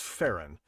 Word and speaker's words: Farron: That's pronounced Farron. There's a couple of people in here with Quebecois names, and Farron is a Quebecois name.